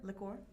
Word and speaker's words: liqueur: Liqueur. It's spelled differently.